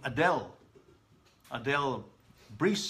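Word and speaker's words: Adèle Brise: to a belgian immigrant by the name of adele brise or adele bris depends on how it pronounced anyway to adele who's adele you know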